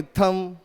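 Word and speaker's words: thumb: Follow करते हैं उसमें जब भी एम के पीछे बी आता है तो बी साइलेंट होता है। जैसे कि हुमायूं टूम्ब नहीं टूम, जैसे कि थंब नहीं थम, जैसे कि क्लाइंब नहीं क्लाइम, वैसे ही प्लम्बर नहीं प्लमर।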